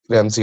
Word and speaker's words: Ramsay: हाउ डू you pronounce it? रेमसी, RAMSAY। रैम से? रेमसी कहते हैं, प्रोनाउंसिएशन शायद आपकी सबकी डिफरेंट हो, बट हम लोग उसे रेमसी कहते हैं।